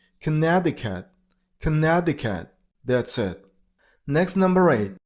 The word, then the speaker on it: Connecticut: I mean on the r sound Colorado number seven Connecticut this turns into dian so connect the cat and the last is blended with d sound Connecticut that's it next number